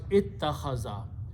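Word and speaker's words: اتخذ: In the grammar, in the language, these 2 letters are pronounced as ta with a shadda. So it becomes ittakhaza.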